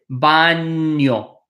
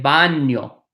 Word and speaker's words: baño: donde esta el baño this little n with a line on top is pronounced like near so this is el Bano el baño donde esta el baño